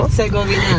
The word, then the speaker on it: Herzegovina: Herzegovina.